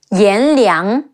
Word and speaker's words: Yan Liang: Some other characters in Wulong Fallen Dynasty we haven't covered include Yan Liang, Yan, Le Yi Ang, Liang, Yan Liang, Wen Chou, Wu En, Wen, Chi Ou, Chou, Wen Chou.